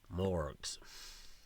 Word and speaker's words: Mohrg: 11th or lower, ghouls; 12 to 14, ghasts; 15 to 17, mummies; 18th or higher, morgues. And yes, that's how you're supposed to pronounce it, even though it's Mohrg. Don't ask me why.